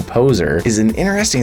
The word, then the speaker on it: PozeAR: PozeAR, although when they pronounce it in game, it kind of sounds like they're just saying poser, is an interesting, it's augmented reality martial arts training app.